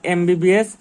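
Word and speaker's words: MBBS: যেমন এমবিবিএস যদি আমরা উচ্চারণ করতে যাই তাইলে প্রথমে এ আসে। এম বলতে গেলে প্রথমে এ আসে। এখানেও এম বলতে গেলে প্রথমে এ আসে।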